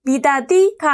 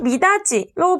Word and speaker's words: 미닫이: 다음 교체한 상 보겠습니다 같이 굳이 미닫이 발음하면 어떤 식으로 발음되죠 같이가 아니라 같이 구디 아니고 굳이 미다디가 아니고 미닫이로 발음됩니다 얘네는 보면 뭐가 뭐로